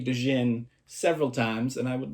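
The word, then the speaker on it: djinn: Well, disclaimer, throughout this episode, I understand that the popular opinion now is that it is pronounced Jin. I may say Dojin several times, and I would like to just hang a hat on that now.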